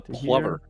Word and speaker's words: plover: from here it's a plover Plover am I saying it wrong yeah cuz it rhymes with lover lover okay okay look